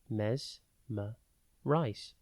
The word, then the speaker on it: mesmerise: today's word is Mesmerize it is pronounced mesm rice and spelled m e m e e r i s e think mess me and then rise before we get into